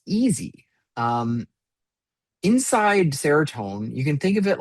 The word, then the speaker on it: Seratone: And the device is called Seratone, is that how it's pronounced? Yeah, Seratone Karaoke.